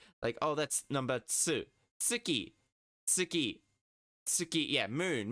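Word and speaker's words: つ: You want your tongue to still be close to the T when you pronounce, to the teeth. When you're pronouncing tsu. Tsu. Tsu. Yeah, like you're slurring the word to, like you're slurring, like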